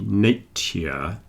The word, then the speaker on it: nature: end in t e if I said it very slowly nature nature you get a T and A Y next to each other but for most people when we're speaking quickly the T and the Y blend together and you get a little CH so nature you don't